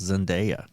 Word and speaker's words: Zendaya: I watched 2 YouTube videos where someone called her by her name, and it's Zendaya.